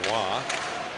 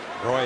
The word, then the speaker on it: Roy: Or Wah. Roy, if you're Don Cherry. And Bergeron. He refused to call Patrick Wah by his properly pronounced name all those years.